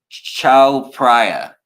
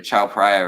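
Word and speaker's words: Chao Phraya: this river is uh Chow pra sorry guys I guess I got that wrong the cha pra River uh so I got that name wrong May clong is one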